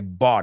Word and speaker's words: bought: Ought. You got to make that sound because it's going to help you pronounce a lot of irregular verbs.